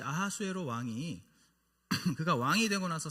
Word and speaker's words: 아하수에로: 오늘 1절에 나타나고 있는 이 아하수에로 왕은 실제 역사에 있는 인물입니다. 바로 이 페르시아 제국의 4대 왕 크세르크세스의 히브리식 발음이 이 아하수에로예요.